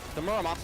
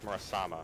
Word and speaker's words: Muramasa: It's not Muramasa, it's Murasama. That's what it is.